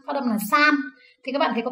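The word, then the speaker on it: 三: Ví dụ như số 3, phát âm là san.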